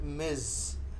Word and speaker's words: Ms: Uh remember this uh title MS that is pronounced Miz right and uh it should